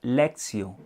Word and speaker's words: lectio: La expresión latina lección divina, es decir, que viene del latín, por eso se escribe lectio, pero realmente se pronuncia lectio.